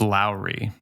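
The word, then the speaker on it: Lauri: too bad I think his name is pronounced Lowry like Lowry Lowry seasoning salt but he's finish yeah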